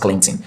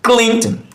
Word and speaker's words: Clinton: This O is silent. That's why it's pronounced Clinton. So we usually stress the first syllable, which is clean. So we pronounce this, or this is pronounced Clinton, Clinton, Clinton, Bill Clinton, Bill Clinton.